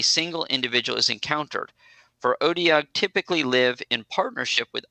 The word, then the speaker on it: Otyugh: Otyugh. So the O is an A.